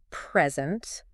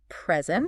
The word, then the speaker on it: present: the word present okay if you emphasize the first syllable present present it's a noun like a gift right but if you stress the second syllable present present it becomes a verb meaning to give something right and it's amazing